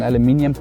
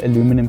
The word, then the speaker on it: aluminium: I'm rather gonna go for, there's an aluminium kit that I found online, so I'm gonna go for this aluminium kit, and I'm rather gonna install the aluminium kit, or as Americans say, aluminum kit.